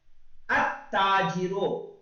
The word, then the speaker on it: التاجر: Okay, यानी देखो लाम को we should not read the लाम, वी शुड अलिफ, we should join the alif with ta. अत्ताजिरो, अगर हम इसकी हिज्जे करेंगे तो हिज्जे कैसे करनी है हमको?